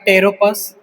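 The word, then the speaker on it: Pteropus: जो हमारा कीरोटेरा में एग्जांपल्स है वो एग्जांपल्स आपका है टेरोपस पी साइलेंट होगा।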